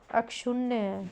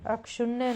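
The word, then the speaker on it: अक्षुण्ण: Next हमारे शब्द है अक्षुण्य। अक्षुण्य नहीं होगा, अक्षुण होगा।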